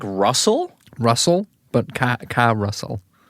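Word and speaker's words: Karusell: with the song Carousel, which is spelled like Russell with a K-A at the start, but it's pronounced like Carousel for reasons that will be apparent It's soon. spelled like Russell. Russell, but Ka-Russell.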